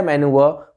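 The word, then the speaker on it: manoeuvre: Guys यहाँ पे pronunciation का ध्यान दीजिए, मैंने कहा है मैनूवर, यहाँ पे र का साउंड नहीं आएगा। हम ब्रिटिश इंग्लिश में र का साउंड नहीं यूज करते हैं, तो कैसे प्रोनाउंसिएशन होगी, मनूवर, मनूवर।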